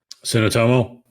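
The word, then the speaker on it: Suotamo: Tsunotomo.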